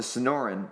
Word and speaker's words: Sonoran: us oh it's the I always I always pronounce this wrong I'm sorry the Sonora the Sonoran the Sonoran Desert the Sonoran Desert which is